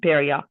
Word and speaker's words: Perrier: Perrier is like a Perrier like the drink, the beverage with a ya at the end, Perrier.